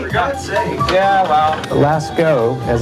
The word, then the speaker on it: Lascaux: Lascaux, as it's pronounced, L-A-S-C-A-U-X, Lascaux is the name of a French cave where